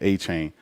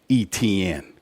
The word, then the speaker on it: Etienne: That's not how it's said, especially down here. I went to a school that was called Etienne.